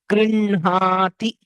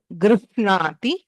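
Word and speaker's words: गृह्णाति: When we pronounce it, the hakara with nakara is pronounced as grinhati. Okay, not grihnati.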